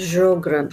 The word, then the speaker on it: Sjögren: going to study what is called as uh jogarin syndrome it's pronounced as jogren okay and we'll study the clinical presentation what